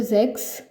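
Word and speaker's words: sechs: 6 को जेक्स, क्योंकि एस को हम जेड प्रोनाउंस करेंगे और जेड को एस प्रोनाउंस करेंगे।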